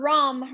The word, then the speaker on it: Ram: and we'll chant together the sound ROM right so it's spelled Ram I know when I